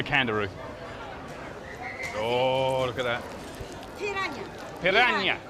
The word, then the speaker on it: piranha: Piranha. Piranha. Piranha. You roll your R's here.